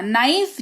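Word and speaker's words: knife: नो यानी कि जानना तीनों शब्दों में के के बाद एन है और इसी की वजह से के जो है वो साइलेंट है नेक्स्ट अब बात करेंगे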